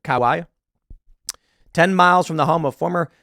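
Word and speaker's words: Kauai: on the island of Kawai is how you pronounce it Kawai 10 miles from the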